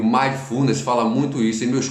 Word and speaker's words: mindfulness: Agora eu falei Mindfulness, como eu falo, e o Mindfulness, que é a forma certa de falar, a pronúncia certa.